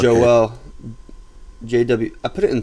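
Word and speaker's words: JWEL: it to my table is it jewel like g j e w e l just like no j w e l is the stock ticker and it's pronounced joel jw i put it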